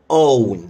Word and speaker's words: own: الكلمة الاول بتتنطق own، كان في واو كده في الاخر، own own.